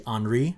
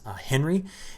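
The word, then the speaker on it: Henri: earlier in the week i mispronounced this the name is actually anri not henry and i want to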